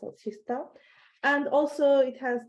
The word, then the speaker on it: Kista: is written as KTH Kista here, but it's pronounced as Kista.